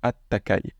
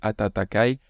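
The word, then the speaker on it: 暖かい: bon bon à noter très souvent ce atatakai sera prononcé attakai voilà la bonne prononciation correcte c'est atatakai mais c'est un petit peu dur à prononcer vous voyez atatakai du coup très souvent vous l'entendrez directement prononcer attakai attakai le sens c'est le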